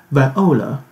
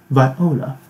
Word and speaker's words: viola: 好，下面的小中提琴，这个是啊，中提琴，viola, 重音在 o 这个地方，viola, 中提琴。